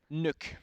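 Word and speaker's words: Nøkk: You see, I would say Nook, but I know you have your special pronunciation. How would you say her name? Nook.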